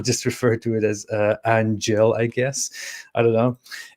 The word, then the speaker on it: Aanghel: eric can upgrade it it's pronounced like an angle ang and angel angelic readings from los angeles uh i guess i'll